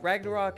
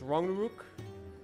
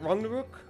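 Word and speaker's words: Ragnarök: Uh Ragnarok, every English person pronounces it wrong. We do say Ragnarok. Uh you never say hard rag. It's more like rang or wrong. Uh so it's Ranguk.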